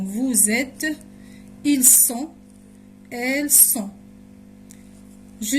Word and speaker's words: vous êtes: دايما هنا بننطق la liaison vous êtes، ils sont، elles sont.